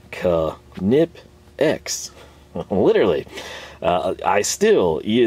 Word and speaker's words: Knipex: people for this uh it's literally pronounced this way it's a german word just roll with it